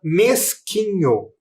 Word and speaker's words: mesquinho: Qual era a outra palavrinha que eram escritas com Q, U, I e que omitia o som da letra U? Você descobriu? É a palavra mesquinho.